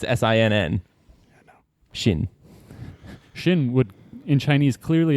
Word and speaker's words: Sinn: Shin. Shin would, in Chinese, clearly have been spelled with the English H.